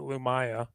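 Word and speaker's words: Lumiya: Although if you listen to the audio books, they pronounce it Lumaya, but Oh. Oh, really? Every most people pronounce it Lumia.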